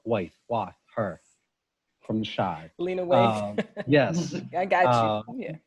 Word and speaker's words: Lena Waithe: so, you know, and I always say her name wrong. Lena Waithe, her from The Chi. Lena Waithe.